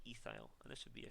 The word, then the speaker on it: ethyl: branch it gets the ending yl so it's pronounced efile and there should be a c2h5 branch 99%